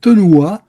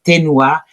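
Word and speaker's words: תנועה: Et le mouvement en hébreu, et c'est un mot qui se prononce tenoua, qui veut dire voyelle. E il movimento in ebraico è una parola che si pronuncia tenua e che vuol dire vocale.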